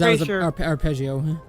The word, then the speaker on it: Arpeggio: I was Arpeggio. Arpeggio. That's it. I was like, it rhymes with god dang itio. No, it's arpeggio.